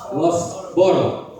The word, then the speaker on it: Loughborough: Pronuncia com F. Põe um F aí. Loughborough.